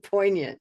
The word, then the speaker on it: poignant: what I love about that moment is that you got to listen and dictate to me what you heard. And then we wrote what we did hear and not what we don't hear, which is that G.